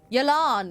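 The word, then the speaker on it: Yelan: here we're trapped Yellen is here as well yilan that's how you say her name yes best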